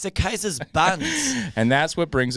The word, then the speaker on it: Caesar: most likely Latin like the A E is pronounced I in Roman Latin. Right. I and the C is probably hard, so it's Kaiser. Kaiser.